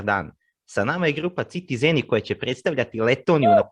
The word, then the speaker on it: Citi Zēni: Citi Zēni. Because people always say Citi Zēni, or It's like citizens. Yeah. But you said right. Yeah, with we our languages have a same pronunciation, so I think it's about that.